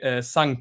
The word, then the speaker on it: Sanke: Did I actually pronounce the thing right? Uh, is it Sank?